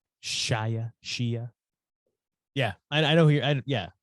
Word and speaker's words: Shia: Shia.